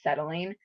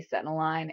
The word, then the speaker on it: Settling: throwing you off, but the C is actually silent. So it's pronounced Settling. If you throw it into Google Translate, it'll pronounce it, say Setiline, and no, no.